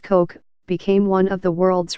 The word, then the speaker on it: Koch: the soaring ambitions of his older brother david pronounced koch became one of the world's richest people with